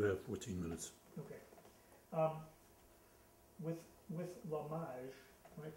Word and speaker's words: L'Image: With L'Hommage, am I pronouncing that right? L'Hommage, yeah.